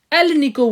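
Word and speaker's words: Alnico: अलनी को ठीक है एक साथ प्रोनाउंस करेंगे तो एल निको बोला जाता है इसको ठीक है इसका जो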